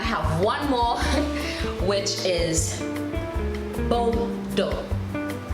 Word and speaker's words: Bordeaux: And I have one more, which is Bordeaux. Bordeaux. Bordeaux is spelled B-O-R-D-E-A-U-X.